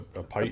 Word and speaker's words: Python: Is it Python or Python?